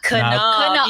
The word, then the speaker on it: Knaub: Knaub, yes. I've been wrong. I said knob like a doorknob. Knaub. For some reason, this part of my husband's family pronounces the K.